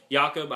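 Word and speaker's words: Jakob: and he played football I think he'll be called Jacob because you know that's just obvious it looks like Jacob let's call him Jacob but yakob I've heard Bush Jones call him yakob and it's kind of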